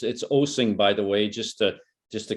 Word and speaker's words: Osing: I get Osing, I get Oozing, and I keep saying, well, treat this as a musical experience. It's Osing, just like Osing a song.